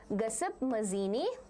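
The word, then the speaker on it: Giuseppe Mazzini: Pronounce it correct. It is Gaspip Mazini.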